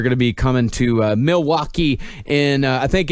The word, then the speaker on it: Milwaukee: That's how it's pronounced. Is Milwaukee.